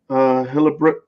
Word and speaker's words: Hildebrandt: Okay, so the cover artist is Tim Hildebrandt. Hildebrandt. Hildebrandt. Okay, so I got that right. Nah, you know you didn't. What? Hildebrandt. I heard 4 syllables in that name when you said it.